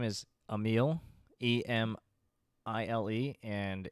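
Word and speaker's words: Emile: his brother's name is Emil e-m-i-l-e and it phonetically it sounds like a meal because he eats a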